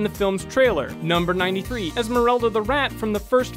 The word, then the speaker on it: Esmeralda: the entire first film he incorrectly calls his pet rat Esmeralda instead of Esmeralda number 9 six much